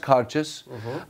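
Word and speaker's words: Cairdeas: be able to face that eyelash so uh cautious it's pronounced cartius and this is it means hospitality friendship in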